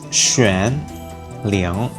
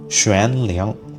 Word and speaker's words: Xuan Liang: It's Xuan Liang. So, you have to make the shush sound at the start.